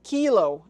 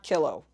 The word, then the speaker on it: kilo: Kilo is pronounced kilo and not kilo.